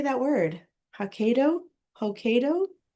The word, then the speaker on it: Hokkaido: Hoko. Hoko. Hokkaido.